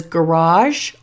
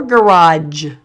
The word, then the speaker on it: garage: You can pronounce this as garage or garage. It's that last sound that can be a little bit different.